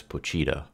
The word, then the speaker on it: Pochita: I always pronounced it as Pochita because it's spelled that way, but in the anime, Denji calls him Pochita, so I'm assuming that's how you pronounce it.